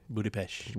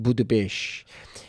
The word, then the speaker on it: Budapest: which it looks like Budapest but apparently you pronounce the Estee sh Budapest Budapest and David was like I really need some